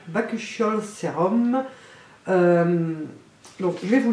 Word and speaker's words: Bakuchiol: Bakuchiol, prononcé Bakuchiol.